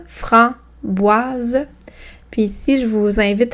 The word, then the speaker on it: framboise: Framboise, framboise. Puis ici, je vous invite à remarquer que le S est entre deux voyelles, donc il y a le son Z.